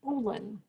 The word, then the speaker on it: bowline: is not a square knot this is a bolon it's spelled bow line and it is pronounced boolen and a bowline is a knot that you